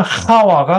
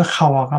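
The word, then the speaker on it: חַוָּה: 이와라고도 하기도 하고, 그런데, 히브리어 성경의 발음대로 하게 해서 하와가 맞아요.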